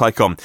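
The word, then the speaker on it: Taycan: from mission e to Tyco on ta Y CA n pronounced icon we have no idea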